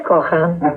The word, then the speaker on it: Cohan: ¿Cohan, cojan? Depende cómo me ¿Cómo se pronuncia? ¿Con la H absorbida es cojan? Sí, ahí me traía una serie de ventajas.